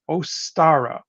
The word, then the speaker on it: Ostara: Spring Equinox uh the name of it is ostara o-s-t-a-r-a oh isn't that beautiful guess what that